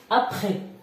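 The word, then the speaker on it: après: ابخي اس لا تنطق في الاخير.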